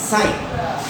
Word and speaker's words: sine: মূলত SIN এই শব্দটা কিন্তু সিন হয়ে যায় উচ্চারণ, কিন্তু এই থাকার কারণে উচ্চারণটা হবে সাইন। ওকে, এটার উচ্চারণ হবে সাইন, মনে রাখতে হবে। এটাকে সিন করলে হবে না, এটাকে পড়তে হবে সাইন।